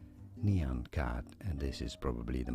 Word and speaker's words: Nyan Cat: Well, it is generally accepted that the correct let's say pronunciation is as neon cat and this is probably the most common at least neon cat.